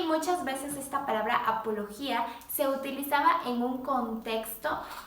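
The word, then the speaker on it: ἀπολογία: viene de un término griego que eh se pronuncia apología Y qué era la apología la apología aquella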